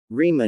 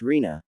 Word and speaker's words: Rina: Rima ne. Itachi chuckles, reaching out a hand to ruffle his brother's hair as he sits in the girl's lap. It's Rina, Sasuke. You're still mispronouncing it.